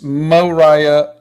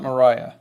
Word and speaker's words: Moriah: you're driving me crazy oh okay so it's Moriah Elizabeth there you go not Mariah um let's see so you you've heard of